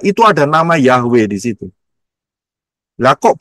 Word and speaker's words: Yahweh: kayak koma di atas Yod he wau he ya supaya gampang kita dengarnya dengan aksara alfabet Ya mengucapnya jelas yaitu yahwe karena hurufnya adalah Yod